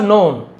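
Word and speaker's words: known: The farmer was नोन है ना किसान जाना जाता था के साइलेंट होता है।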